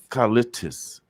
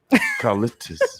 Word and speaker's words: Callistus: what does that mean carlitos carlitos am i twisting it up no you're saying it right right yes okay so